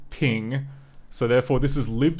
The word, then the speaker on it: PNG: it sping CU apparently PNG is actually pronounced ping so therefore this is